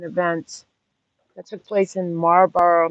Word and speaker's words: Marlborough: that took place in marlborough massachusetts like the cigarette but it's spelled m-a-r-l-b-o-r-o-u-g-h we have several burrows um in